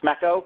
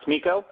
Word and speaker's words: SMECO: First of all, I'd like to start out with reminding everybody that it's pronounced SMECO, not SMECO.